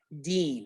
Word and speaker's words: Din: like dean ganga din it really is meant to be pronounced deen as in rhyming with green so you'll see in